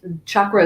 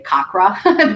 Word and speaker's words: chakra: hard ch and actually in sanskrit chakra is really spelled c-a-k-r-a but the c is always ch sound and then we just added the h so that people didn't say kakra because they said well